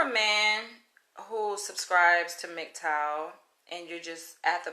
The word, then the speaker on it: MGTOW: to pronounce it so i was saying mg toe but it's not mgtow it's mgtow it's an acronym that